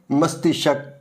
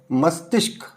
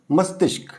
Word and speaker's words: मस्तिष्क: तो ये है मस्तिष्क कुछ बच्चे इसका उच्चारण ऐसे मस्तिष्क जब मस्त शक करते हैं वह अशुद्ध होता है। यहां भी यह त के साथ मिलाके उच्चारण करेंगे तो यह उच्चारण शुद्ध रहेगा।